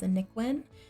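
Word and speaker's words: anicwin: available for a download my origin id is a nick win a-n-i-c-w-i-n and that is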